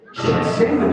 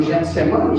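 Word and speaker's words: Getsêmani: Repete comigo de novo. Getsemane ou Getsemane, escolha a pronúncia.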